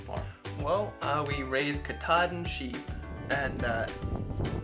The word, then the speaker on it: Katahdin: Well, uh, we raise katad and sheep and, uh, that's spelled K A T A H D I N. I I've heard of that. I've seen that spelling. That's Katad.